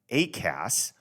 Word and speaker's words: ACAS: There is an airborne collision avoidance system, usually pronounced ACAS, which operates independently of ground-based equipment and air traffic control and warning pilots of the presence of other aircraft.